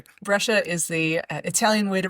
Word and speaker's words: Brescia: what you say, but cia in Italian is a ch sound.